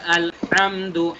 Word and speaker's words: আলহামদু: আমি বলেছি আল হামদু হা গলার ভেতর থেকে হবে, তারপরে লিল্লাহি আমি পুরোটুকু একবার একটু বলি।